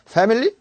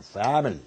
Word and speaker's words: family: 애발음은 말이죠. 애발음. 과감하게 옆으로 빼야 돼요. back. family. 의부터 시작이다. family.